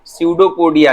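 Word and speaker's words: pseudopodia: सर इसमें P silent है। हाँ हाँ हाँ, पी साइलेंट है बेटा, पी साइलेंट है, बिल्कुल बिल्कुल, PSEUDO, स्यूडोपोडिया लिखते हैं, लेकिन पी साइलेंट है, पी साइलेंट है।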